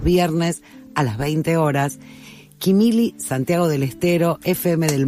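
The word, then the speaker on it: Quimilí: FM del Monte está en Quimili, acento en la I, ¿no? Quimili, pero bueno, son cosas que está bien corregirlas al aire, ¿no?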